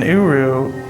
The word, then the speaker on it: Uru: In Uru, you're just you. It's spelled U-R-U.